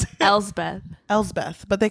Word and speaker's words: Elspeth: I don't know how to pronounce it. Elspeth, but they call her Bessie, right?